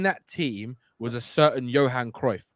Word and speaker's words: Johan Cruyff: team was a certain johan cruyff right johan krauf is how they say it yeah and he was